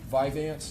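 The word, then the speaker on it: Vyvanse: Um Viveance. Is that how you pronounce it?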